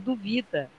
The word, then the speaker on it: duvida: letra A é dúvida mas na letra B duvida né então não tem acento porque a segunda que é a mais forte duvida por você duvida sempre